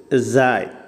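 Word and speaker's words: زاي: ഇത് സായ് സെഡ് ഇംഗ്ലീഷിലെ ഇസഡ് ഉണ്ടല്ലോ, സെഡ് എ വൈ സായ് സായ്. ഇതും ബുദ്ധിമുട്ടില്ല, ഇംഗ്ലീഷിൽ ഉച്ചാരണമുള്ളതാണ്.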